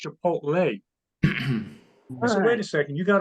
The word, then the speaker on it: Chipotle: looked at me he said Dad it's not pronounced chipot it's pronounced Chipotle wait a second you got a 45 or